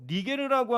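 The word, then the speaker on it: Niger: 그리고 니게르라고 하는 시몬이 있었어요. 이 니게르는 여러분 니그로 아시죠? 이게 라틴어식 발음입니다.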